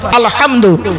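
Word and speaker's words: الحمد: আলামিন আলহামদু হব নয় আলহামদু গলার ভিতর থেকে উচ্চারণ করবেন আলহামদুলিল্লাহ মানে হচ্ছে সমস্ত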